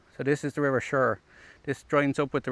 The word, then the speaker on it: Suir: So it sounds like I'm saying Suir as in S-U-R-E, right? But it's spelled S-U-I-R.